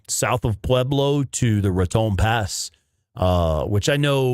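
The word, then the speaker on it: Raton: Ron pass there uh I don't know how to say it properly uh ratton I think is how the locals say it um yeah Red Dot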